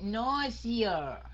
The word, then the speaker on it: nausea: Rồi cái âm s đó đọc thành âm z, okay? Nausea. Nausea. Âm z nha.